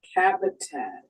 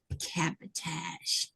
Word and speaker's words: cabotage: Cabotage. Cabotage.